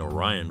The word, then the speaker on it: Orion: Madonna attended High School although the pronunciation differs in these two contexts or Eon for the lake and Orion for the movie distribution label the name